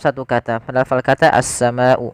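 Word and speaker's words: السماء: kata, pada lafal kata as-sama'u. Maka kita wajib membacanya sepanjang 4 atau 5 harakat. Jangan dikurangi, misalkan as-sama'u fakana, kurang. Itu kurang tepat.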